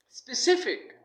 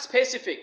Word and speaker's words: specific: the next one is specific c c should be stressed not specific it should be specific specific means has okay